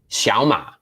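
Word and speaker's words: 小马: two third tones together but if you listen carefully how that's pronounced is xiao ma right there's two third tones as you can see from this little tones here right but it's not xiaoma it's xiaoma xiaoma second tone third tone second tone third tone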